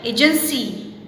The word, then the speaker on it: agency: We have Y after C, so we have pronounced it agency instead of agency.